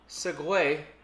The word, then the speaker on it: Segue: Segue is not spelled the way you think. How's it spelled? Like the Segway you're talking about is spelled Segue. Huh. Mm-hmm. I saw it written down, and that's how I pronounced it.